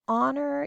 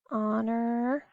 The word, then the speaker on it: honor: his teachings such as honor your ancestors influenced chinese civilization honor honor is a word that has a silent h at the front honor your ancestors ancestors